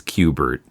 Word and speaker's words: Kubert: by Joe cubert and I checked the pronunciation of his name it is Qbert so he is an 80s video game um and this is